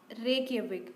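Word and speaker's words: Reykjavík: रेकयाविक, जे is silent है।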